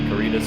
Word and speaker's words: Caritas: We're here today with Will from Caritas Apparel.